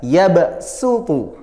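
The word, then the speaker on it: يبصط: su sa si su karena apa tulisannya Shad sudah harus dibaca Sin tidak boleh su tapi SU biasa yabsutu paham ya Coba kita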